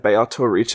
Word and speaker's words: Beatrice: fact that it said Beato Riche this whole time, it's literally an Italian pronunciation of that name. That is like a very specifically Italian language pronunciation of Beatrice, and only Italian.